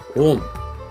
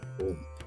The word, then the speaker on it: Om: It's If you break the syllable, it's actually a o m, agara ugara makara.